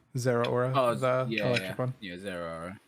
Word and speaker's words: Zeraora: Is it Zeraora? Is that how you pronounce it? Yeah. Zeraora, the electric one.